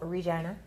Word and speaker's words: Regina: Regina. Oh. I said it right. They call it the city that rhymes with fun.